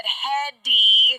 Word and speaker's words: Headey: I have to admit that I learned how to pronounce her name today. Now, granted, I would have said Headey. Right. I didn't hear the Lee part.